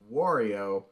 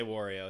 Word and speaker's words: Wario: it for the podcast i say wario like war i think kevin will